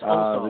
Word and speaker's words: Ossoff: Is it Ossoff? Is that how you pronounce it? It's Ossoff.